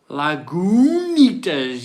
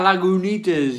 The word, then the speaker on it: Lagunitas: you enjoyed it but isn't it pronounced lagunitas yeah lagunitas yeah um have a